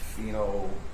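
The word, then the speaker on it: phenolphthalein: And that's the phenoin phenoline. Phenol. Can you spell that, please?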